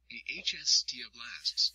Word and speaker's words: osteoblasts: Bone contains 3 types of cells: osteoblasts, pronounced osteoblasts, which make new bone and help repair damage;